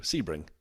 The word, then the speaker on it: Sebring: Sebring. If it was Sebring, wouldn't it be SE? plate. I mean, potentially, but the way that everyone in the in America calls it Sebring, and I've lived in Florida, it's Sebring.